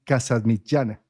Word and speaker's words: Casamitjana: para esto quién mejor que nuestro querido casas michana Ah vamos a ver si lo produce así se se pronuncia tu apellido o no fantástico aprobado bueno